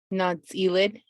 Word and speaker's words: Nááts’íilid: do you mind do you mind sharing the pronunciation of the initiative not elid thank you her broad experience in construction and